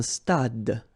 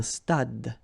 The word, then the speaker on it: stade: Un stade. Same thing here. Final is not pronounced. Un stade.